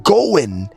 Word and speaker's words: going: So pronouncing going instead of bringing in the end the ending sound the g going. I am going somewhere. Going. You got to bring the ing at the end.